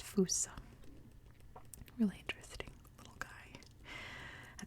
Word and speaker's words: fossa: It's one of those Malagasy words, where in English you would say fossa, but it is not how it's pronounced. It's pronounced fossa.